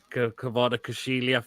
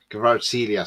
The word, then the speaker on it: Kvaratskhelia: Kvara Kushilia from Napoli. He'd cost a fortune. That's the thing, though, wouldn't he? Kvaratskhelia, sorry, that's how you pronounce it.